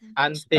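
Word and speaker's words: 安定: Ante. stabil. Stabil. Iya. Ante atau keseimbangan juga bisa ya. Stabil, seimbang ya. Ante dia bacanya.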